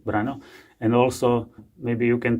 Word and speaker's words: Brano: pronouncing my name well in Slovak language it should be pronounced brano but I actually prefer brano for some reason many people call me this way so you can call me brano and also maybe you